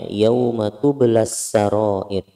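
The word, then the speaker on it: يَوْمَ تُبْلَى السَّرَائِرُ: bertemu dengan alif lam, maka matobi'inya ini tidak dibaca, meskipun pada dasarnya ada hukumnya, tetapi matobi'inya tidak dibaca. Jadi bacanya yauma tublas sarair, yauma tublas, langsung dimasukkan ke kata as-sarair.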